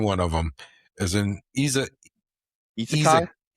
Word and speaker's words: isekai: As in Isekai?